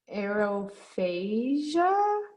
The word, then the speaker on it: aerophagia: air okay i'm gonna try i think it's aerophagia maybe does that sound right okay exactly a